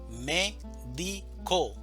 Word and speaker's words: médico: Médico, división silábica. Médico. Sílaba tónica. Me. Médico.